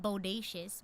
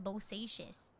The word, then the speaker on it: Bosacius: No, not bodacious. Bosacious.